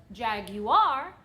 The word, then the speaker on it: Jaguar: gonna continue saying it I know that you're supposed to properly pronounce it jag you are but I'm from stuff